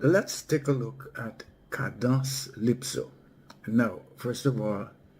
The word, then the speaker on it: Cadence-Lypso: In creole we pronounce it kados lipso.